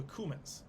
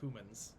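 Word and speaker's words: Cumans: kieving were the the cumins humans it's spelled c-u-m-a-n like the spice yeah uh they were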